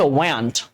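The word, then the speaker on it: weren't: ওয়ার আর হচ্ছে ওয়ান্ট, ওয়ান্ট উচ্চারণটা করবা, ঠিক আছে?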